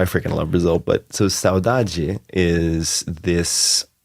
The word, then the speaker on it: saudade: last year, which is, I'm sure I'm not pronouncing it right, Portuguese word, saudade. Oh, saudade.